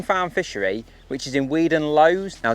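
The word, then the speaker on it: Weedon Lois: Now don't get in the comments telling me I've pronounced that wrong because I've just asked them and they reckon that that's how you pronounce it. Weed and Lowe's.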